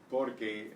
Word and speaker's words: porque: Porque as one word means because. So, porque answers porque. Does that make sense? Porque is like porky. Okay, and porque are really two separate words.